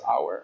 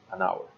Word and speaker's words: hour: that you remember that the word hour is pronounced hour and it's supposed to we're supposed to use indefinite article and an hour all right and the same applies for last